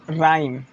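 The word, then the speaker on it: rhyme: मतलब आपको एक ही चीज़ सीखना है कि किसी वर्ड की शुरुआत अगर आर एच से हो तो एच आपका साइलेंट होता है, ठीक है।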